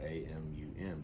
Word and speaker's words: Amun: We know it's just a moon, but think about maybe the moon is Ra, a moon Ra, but it's spelled different, AMUN, but it's pronounced Amun Ra.